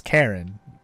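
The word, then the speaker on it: Charon: sticks you should know his name is Karen or at least that's how it's said to some people it's spelled differently but yeah that's his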